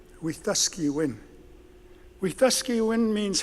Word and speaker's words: Wetaskiwin: would a city of Wetaskiwin unfortunately mispronounced it's a Cree word with the ski win with the ski win